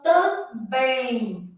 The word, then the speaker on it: também: Então, tam, bem. Então, este segundo M aqui tem som de I, beleza? Então, também.